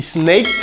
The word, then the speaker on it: snaked: For example, he snaked my DVD. He snaked my DVD. Ça prononcé comme t.